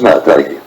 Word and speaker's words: MATE: testé est très fiable le nom maths se prononce ma taille il provienté originaire d'Amérique